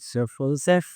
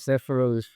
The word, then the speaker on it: Sephirot: And you pronounce it Sephirot. Yeah. Or if you are the Ashkenaz, the Ashkenazi pronunciation will be like Sephirot.